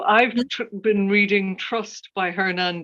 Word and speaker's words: Hernan: Hernan Diaz. Yeah, the accent is on the last syllable of Hernan, and the last name is Diaz, D-I-A-Z.